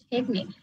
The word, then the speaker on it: technique: টেকনিক, টেকনিক, নিকের উপরে stretch হবে, টেকনিক।